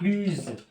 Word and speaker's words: plus: فاش كيكون ادجيكتيف مبدوء بفويال هنايا بلو كنطقوها بلوز.